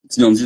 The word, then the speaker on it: Teeyandee: Tiandi, ça s'écrit T2EYND2E.